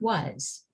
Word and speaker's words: was: say but we know that the word is pronounced was this word should say own like bone or